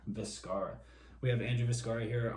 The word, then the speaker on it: Vizcarra: Vizcarra.